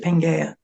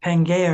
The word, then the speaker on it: Pangaea: goal like you said Pangia and I said Pang like um I'm sure people mess up the name a lot too no a lot of people overseas actually pronounce it panga yeah okay but aren't